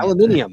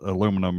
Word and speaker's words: aluminium: Well, the British founder of aluminum spelled it aluminum originally and pronounced it aluminum originally. Huh. It was other British scientists that changed it. The aluminium.